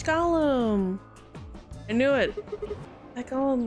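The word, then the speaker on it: GAULEM: We know about Gollums. We met one earlier. His name was G- Ool, pronounced Gollum.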